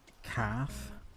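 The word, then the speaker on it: cath: Cat is calf. C A T H. And the T makes a F sound.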